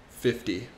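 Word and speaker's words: fifty: we do that so we take the t y at the end and change it into a d y so with that being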